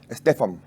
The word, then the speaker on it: Stephan: Estefan. Estefan, que es en ruso, Esteban, ¿no? Claro, así mismo es. Sí, pero Estefan se pronuncia. Stepan se escribe, se pronuncia Estefan. Porque si fuera en inglés sería Stephen.